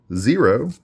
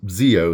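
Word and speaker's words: Zeo: All right, we got Niji Vinsmoke, Cerberus again, Kawamatsu, Gyro, not sure which way to pronounce that one, Zero, or Zero, no, Zio, excuse me, there's no R there.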